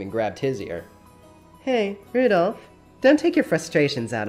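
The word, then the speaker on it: Rudolf: I'll tell you that that mess of characters is pronounced Rudolph he must hate grandfather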